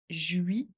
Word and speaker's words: juillet: Répète après moi, le 14 juillet, le T ne se prononce pas juillet.